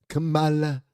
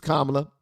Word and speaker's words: Kamala: Camala. Camala. I think Trump was saying her name like that on purpose to piss people off. Camala. Her name is Kamla and that's how it's pronounced.